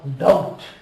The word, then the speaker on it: doubt: Now, doubt. B is silent. This is out. Doubt.